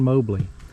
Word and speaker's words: Mobley: Mobley. That's how the local people pronounce that, Mobley.